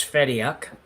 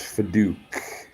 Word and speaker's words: Fediuk: So this is Chloe, and I've been pronouncing it as Fediuk, and I believe it's Fadouk.